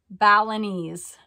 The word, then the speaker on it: Balinese: ten dollars it's a mahogany felony Balinese bust pronounced like gallanese Balinese see she's helping me out uh but with